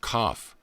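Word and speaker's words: qoph: 100 has the letter q o pH pronounced cough the back of the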